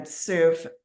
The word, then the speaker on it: Soof: But today, again, Soof, that's SOOF as in Frank. And like she said, it rhymes with proof.